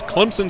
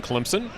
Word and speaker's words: Clemson: that's right this is Clemson South Carolina for those of you that are not from here there's an invisible p in Clemson often mispronounced phonetically as Clemson only locals know